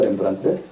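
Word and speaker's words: Rembrandt: 영어로 어떻게 발음하죠, 렘브란트를?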